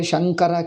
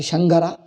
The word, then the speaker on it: Shankara: If Tamilians say Shankara ki Shangara, TTD ki DDT, then all others will not be able to understand.